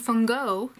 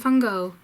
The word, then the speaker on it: van Gogh: As you can see there, Vincent van Gogh or Vincent van Gogh. Maybe you learned something. Now you can know how to pronounce his name in Dutch.